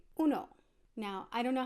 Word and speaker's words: uno: in spanish in espanol to say 1 you're gonna want to say uno now I don't know